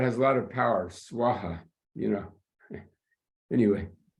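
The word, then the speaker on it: svāhā: do the Sanskrit Mantra which ends with swaha not Soha so the Tibetans somehow they cannot pronounce swaha they they say Soha instead it doesn't make a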